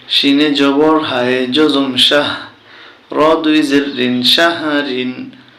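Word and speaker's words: شَهْر: শিনে জবর হায়ে জজম শাহ, র দুই জের রিন, শাহরিন। এখানে আমরা থামলে উচ্চারণ হবে শাহর।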